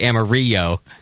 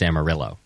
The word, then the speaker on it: Amarillo: going nuts he's like if I have to hear one more person say amario I want to go nuts because it's not actually a Spanish you know name it's it's Amarillo yes okay well at